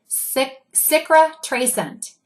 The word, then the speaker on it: cicatrisant: Let me spell that for you. It's Cicatrisant, and you pronounce it Citrascent.